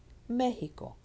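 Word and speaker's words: México: Mexico. It's here on the me, and you'll notice 1, 2, 3 syllables from the back.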